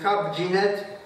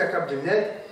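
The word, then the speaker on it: كاب جنات: من جنات الى جنات فاصبحت تسمى جنات كاب جينات وليس كب جنات طبعا التحريف دائما يعود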